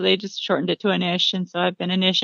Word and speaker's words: Anish: Is it pronounced Anish? Anish is how I pronounce it, but Anish is fine too.